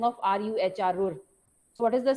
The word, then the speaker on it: Ruhr: There should not be a single student who does not know the spelling of RUHR, Ruhr. So what is the spelling? RUHR.